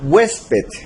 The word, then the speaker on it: huésped: Por ejemplo, tenemos la palabra huésped. Huésped. Tenemos que la mayor fuerza de voz está en la penúltima sílaba, hues. Y como no termina en NS o vocal, entonces se va a tildar.